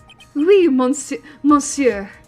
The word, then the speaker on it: monsieur: died was he alone monsieur I gotta I remember you're not supposed to pronounce the n in that all alone I know